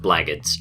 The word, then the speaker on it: Blackguards: This game's name is pronounced Blackguards. I checked and that's definitely how you say it.